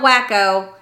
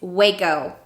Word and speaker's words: Waco: a burger so this word in texas is pronounced pernalis this word palacious this word is mahaya and the last one it's not wacko it's waco if you're trying to figure out where in